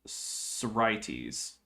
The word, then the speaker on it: Sorites: did in fact put he meant to indicate that the second syllable was accented, and he misplaced the accent mark. So now we have that all figured out. So it's Sorites.